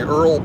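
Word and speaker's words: oil: Well, Earl worker? You work on the Earl pipeline? That's how they say it in Texas, Earl.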